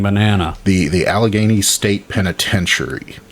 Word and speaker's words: Allegheny: town or the area alger was it al ghagaini uh allegheny allegheny i always put too many syllables or letters in there that's like i